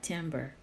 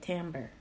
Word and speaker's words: timbre: such as duration, timbre, that is pronounced timbre, by the way, not timbre, Timbre. You say it timbre.